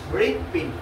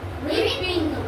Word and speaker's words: হৃৎপিণ্ড: হ বর্ণটি যখন র বর্ণটির সাথে যুক্ত হয়ে যুক্তাক্ষর গঠন করবে তখন ৮০ ভাগ র, কত ভাগ র? ৮০ ভাগ এবং ২০ ভাগ হয় উচ্চারণ হবে।